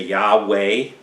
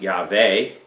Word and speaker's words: Yahweh: I don't know most your versions will say Yahweh if I was going to pronounce that name at all in Hebrew I pronounce it yaver because I know that King David was not